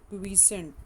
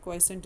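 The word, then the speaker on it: quiescent: G0 phase is also known as the क्वीसेंट stage. ठीक है, क्वाइसेंट stage इसको भी बोलते हैं, कुछ क्वीसेंट बोलते हैं, जो भी प्रोनाउंसिएशन आपको ठीक लगे.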